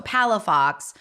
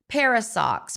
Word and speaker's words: Palafox: I mean you know my last name is is for some reason very challenging even those phonetically you know so Palafox but I get called parasox Paradox oh I'm not kidding